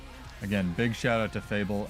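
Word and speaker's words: Fabvl: Again, big shout out to Fable, F-A-B-V-L, which is actually how you apparently pronounce his name, so I'm glad I got that right for once.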